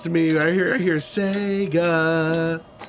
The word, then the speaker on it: Sega: Sega! Sega? Yeah, Sega. Yeah, it's like the E is like kind of like a long A, and the way you said it sounded like smegma without the M.